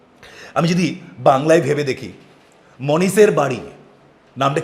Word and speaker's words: মনীষ: আমি যদি বাংলায় ভেবে দেখি, মনীষের বাড়ি, নামটা কি বললাম? মনীষ। দেখো লাস্টে উচ্চারণটা কি হচ্ছে? আচ্ছা, মনীষ স্পেলিং কি? MANISH। দেখো এইচ দিয়ে শেষ, কিন্তু সাউন্ডটা কি? হিসিং সাউন্ড, মনীষ স।